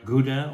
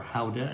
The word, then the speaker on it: Gouda: You're talking about Jarlsberg, Emmentaler, Gouda, or Gouda, that's how they pronounce it in the Netherlands.